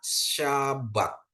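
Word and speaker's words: שבת: dari Shin bet ya Di mana Shin dikasih patah bet dikasih kamac jadi dia bacanya syabat Ya syabat ya hari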